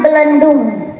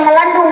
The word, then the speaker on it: Belendung: Abdi linggih di Kampung Belendung. Lain melendung kade ulah pahili sia teh melendung mah beda deui eta mah.